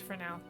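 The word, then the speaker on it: Fresnel: in the country left not fresno sorry that's supposed to be pronounced for now i know this i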